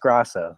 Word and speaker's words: Grasso: I was told it's pronounced Grasso, so that's what I stick with. Yeah, I always figure I've known people with the the two S's and the O, and usually the A is pronounced a little bit differently.